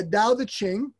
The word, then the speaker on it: Tao Te Ching: been doing is tommy reads from the uh dow the qing i said it right yes and we read